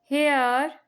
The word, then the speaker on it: here: HERE हेयर। हेयर, यहाँ पे जो आर है वो साइलेंट रहता है।